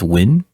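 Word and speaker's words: Nguyen: it um like there's that last name n-g-u-y-e-n right which I've been told is actually pronounced win and it's just like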